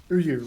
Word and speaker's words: Uyu: Oh, they're telling me how to pronounce Uyu. Uyu, right. So Uyu is pronounced Uyu.